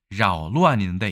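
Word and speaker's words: 搅乱: 발음도 사실은 교자에 가깝게 각이 아니라 교자에 가깝게 자오라고 이야기하는 것을 알 수 있습니다. 자오루안인데 이것은 지난번에 소요할 때 그 요자 있었죠?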